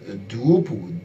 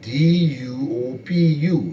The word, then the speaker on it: Duopu: We also have another Bai Bala, that's B-A-I, and the last name is spelled G-B-A-L-A, Bai Bala. We also had another individual called Moses Duopu, D-U-O-P-U, Duopu.